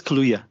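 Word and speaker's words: Kaluuya: Washington played by Daniel Kalua is that how he's about to pronounce his name yeah I think so yeah I think it's kaluya not Kalua uh Daniel kaluya Chris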